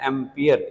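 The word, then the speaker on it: ampere: एंपियर बोला जाता है। क्या बोला जाता है? एंपियर।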